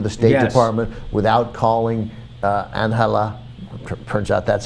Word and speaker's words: Angela: I guess, or impose sanctions immediately without checking with congressional leaders, without going to the State Department, without calling Angela.